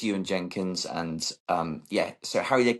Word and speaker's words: Ewan Jenkins: So yeah, it's Ewan Jenkins, and yeah.